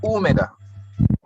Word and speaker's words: húmeda: Accent on the guys, wherever the accent is, we'll put a little more emphasis on it. Húmeda.